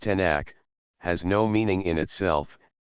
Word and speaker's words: Tanakh: Pronounced Tanakh, has no meaning in itself, and is a word formed of the initials of.